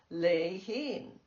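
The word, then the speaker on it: Lehene: My sister's Chinese derived name was spelled L E H E N E unlike its pronunciation lein.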